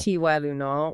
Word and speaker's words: Tylenol: And some are just unexpected like Tylenol. That Y is a long I sound and the second syllable is usually a schwah. Tunal ti lunal or charmin toilet paper.